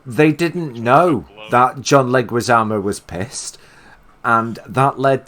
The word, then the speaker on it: Leguizamo: that I didn't say it right either no Leguizamo thank you and John Leguizamo and Bob Hoskins